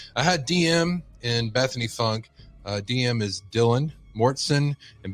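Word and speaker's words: Funke: door okay and we all heard that Bethany funk or funky which I'm told is pronounced Funk her mother is a lawyer she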